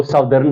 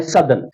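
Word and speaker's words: Southern: Indian ocean, the सदर्न, जिसको सदर्न पढ़ते हैं अमूमन मगर असली इसकी प्रोनाउंसिएशन है सदर्न, सदर्न ओशन या आर्कटिक ओशन।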